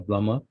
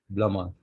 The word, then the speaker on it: plumber: He is a plumber. This B is silent. Plumber, plumber.